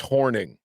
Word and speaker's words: Hornung: Paul horing or horning sources confirm it's pronounced horning in the moment who's watching live damn I'm just gonna I'm gonna out my sources yes anyway Paul horning himself is texting me